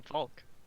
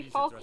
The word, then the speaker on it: Falk: Doesn't everyone want to be Falk Firebeard? Falk that guy. Falk Firebeard. You can't say it with that accent, my guy. What did he You say? gotta know that. He doesn't pronounce the L, so he just sort